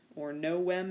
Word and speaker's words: novem: 8 octo number 9 November no wem in the proper pronunciation and number 10 Dec